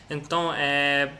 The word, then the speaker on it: então: Acho que o mais típico, assim, o mais normal é essa pronúncia do ão, né? Então, eu vou repetir algumas palavras que você não pronunciou ão para a gente treinar.